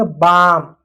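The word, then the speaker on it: balm: इसको क्या पढ़ेंगे, बाम, एल साइलेंट रहेगा क्योंकि एल के बाद एम है।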